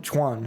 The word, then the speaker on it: Chuan: Chuan, I got to say it with one syllable.